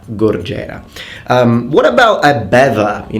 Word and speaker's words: gorgera: Of course you need to roll your R in Italian, but it's gorgera, gorgera.